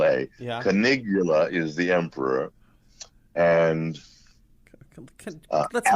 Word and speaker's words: Canigula: white and the emperor whose name is conigula that's spelled c a n as in nancy i g u l a canigula is the emperor and let's make this now